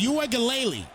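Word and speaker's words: Uiagalelei: from what I heard the pronunciation is UA gele I don't know if that's true or not but I'm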